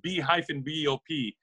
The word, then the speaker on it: B-Bop: Google and just type in B-Bop Records, B-Bop is spelled B-B-O-P.